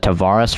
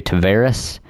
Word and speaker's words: Tavares: I think Saros is the correct pronunciation, but I've said it's like I remember I've always said Tavares forever, but it's actually Tavares.